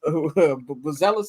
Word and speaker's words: Buzelis: Buzelis, as he pronounce it.